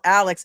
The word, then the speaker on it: Alex: Um, Mattie Foley says his name is spelled Alec, but it is said Alex. Actually, it's the reverse. His name is spelled Alex A L E X, but he pronounces it Alec.